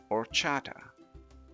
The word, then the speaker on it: horchata: the first word this word is spelled h o r c h a t a and it's pronounced or Chata or Chata this is a delicious drink made